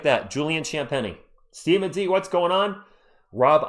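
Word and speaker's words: Champagnie: How do you pronounce Champenni? Mickey, just like that. Julian Champeni.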